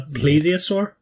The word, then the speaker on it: plesiosaur: going to have to help me with the pronunciations here but I think it's an osaurus an ecosur and a plesiosaur is that correct yeah spot on uh one